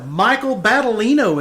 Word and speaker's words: Battaglino: Michael Battaglino is here. You said the G is silent.